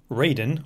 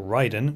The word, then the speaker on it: Raiden: up in adoption no raiden or Ryden whichever way you want to pronounce it is a second layer